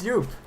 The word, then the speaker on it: Joep: It's Joep. Joep. Joep. I mean, I'm Dutch. Joep's Dutch. I think I can pronounce his name correctly.